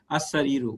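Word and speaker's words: السرير: হ্যাঁ, আর তাহলে এখন খাটটি আসসারিরু, উচ্চারণটা কিন্তু আল দিয়ে লিখতে হবে, বাট উচ্চারণ করতে হবে আসসারিরু।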